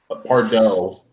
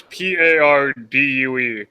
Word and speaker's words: Pardue: Pardo. It's Pardue. Where do you get dough out of that?